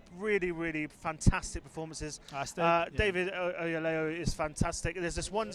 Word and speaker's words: Oyelowo: David Oyelowo is fantastic.